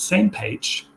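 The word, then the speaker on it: SMPAG: Mission Planning Advisory Group, and that one is pronounced same page, where IWAN is looking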